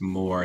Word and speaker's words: Moher: like mohair, but I think it's more.